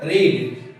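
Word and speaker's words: read: बी हमने आज पढ़ा बी वर्ब का सेकंड फॉर्म है ना रीड बोलेंगे रेड लिखे हैं रीड बोल रहे हैं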